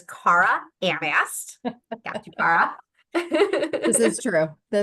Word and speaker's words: Cara Anast: The way to pronounce her name is Cara Anast.